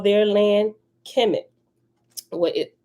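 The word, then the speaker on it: Kemet: but it's all talking about the same place chemic it's all pronounced the same chemic right no matter how it's spelled these ancient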